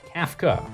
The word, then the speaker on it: Kafka: take it easy it's pronounced Kafka like craft rafta you know what let's